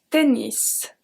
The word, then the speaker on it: tennis: Le tennis.